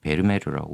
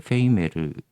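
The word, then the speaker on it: Vermeer: 브가 들어가서 베르메르라고 많이 하는데 페이르. 페이르 이렇게 발음하는게 맞다고 하네요.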